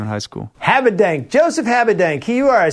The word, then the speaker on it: Habedank: Most people, Rick, put an R. Habedank. Habedank. Or Habedank. Hobdonk. I mean, I've heard it all. Habedank. Or.